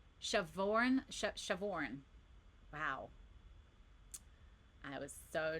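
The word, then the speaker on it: Siobhan: the Irish girl that her name is spelled really weird and then the way it's like pronounced it's like what is with you Irish people and the way that you spell your names, man. Shavin.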